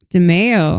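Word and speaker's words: DiMeo: DeMeo? Yeah. Oh, like DeFeo. So DeMeo, literally the only difference between DeMeo and DeFeo is the M and the F.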